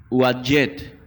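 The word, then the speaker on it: Uadyet: Se escribe U-A-D de dedo, Y-E-T de tomate. Uadjet.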